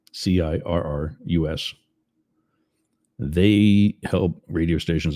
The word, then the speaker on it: Cirrus: That's not Sirius as in like the satellite company. It's Cirrus spelled with a C, Cirrus.